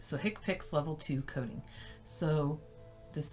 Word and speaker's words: HCPCS: it and it's in the spiral HCPCS is pronounced hick pics it's introduced in 1983 and it comes from